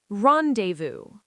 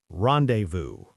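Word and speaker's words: rendezvous: Rendevu. R E N D E Z V O U S. Rendevu. French word meaning a meeting. Both the Z and S are silent.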